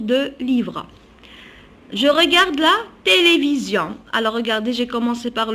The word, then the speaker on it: télévision: livres je regarde la télévision alors regardez j'ai commencé par le t majuscule télévision toujours le s entre deux voyelles se prononce toujours z s entre deux